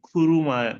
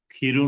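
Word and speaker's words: くる: কোন হেয়ানি এই রুমে খুরু মাদিনি আসা পর্যন্ত খিরু না এটা হবে খুরু খুরু মাদেনি সোজিনাতে ওয়াইকে মানে সোজিনা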